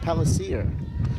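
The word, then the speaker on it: Pellicer: Augustine friends will tell you that it is pronounced Pellisier, as that one stays high, and it's 2-2.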